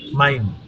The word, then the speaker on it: Mein: আই, মাইন, আই, মাই। এটা ইংলিশে অনেকটা মাই এর মতো উচ্চারণ হবে।